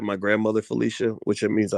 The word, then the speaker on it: Phylicia: cotton elaine shepard elaine says she supports uh felicia rashad and bill cosby and uh actually uh elaine uh you spoke felicia like my grandmother felicia which it means i like you a lot